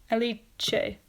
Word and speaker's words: Alice: um female Italy's name would be pronounced Alik aliche let me double check aliche yes aliche that's what um he